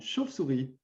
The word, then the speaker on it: chauve-souris: Alors, mot suivant, une chauve-souris. Alors, il faut préciser que c'est comme ça que tout le monde le prononce. On a l'impression de dire un V, en vérité, on dit un F.